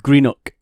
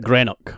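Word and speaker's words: Greenock: it's it's just it's spelled like g r e e n o c k green okay and a lot of people who don't come from Scotland call it granok right but it's greenook I want to make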